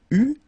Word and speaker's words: eut: Okay, so j'eus, final S not pronounced, tu eus, final S not pronounced, il eut, final T not pronounced, elle eut.